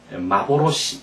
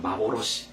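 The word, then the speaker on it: 幻: 그다음 이것을 뭐라고 읽는다고 일본어로는 환상 환영을 마보로시 이렇게 읽습니다 마보로시 이렇게 꼭 여러분 연습해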